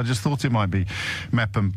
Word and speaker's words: Meopham: Is that pronounced Meepham or Mepham? It's pronounced Mepham. M-E-O-P-H-A-M.